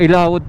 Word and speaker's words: Ilaod: Ilaod pala ang pronunciation.